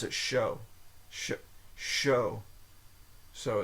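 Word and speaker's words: chaud: says to pronounce it show sh Show so it's O but it's pronounced C it's spelled c h a u d you think that'd be CH child it's a child but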